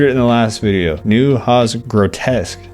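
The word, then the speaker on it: Neue Haas Grotesk: New Hos grotesque, I think is how you're supposed to say.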